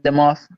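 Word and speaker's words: Demoff: So he how do you say Kevin Dimoff? Am I saying that right? I believe that's the GM. No, you're right. The Rams COD. Yeah, Kevin Dimoff.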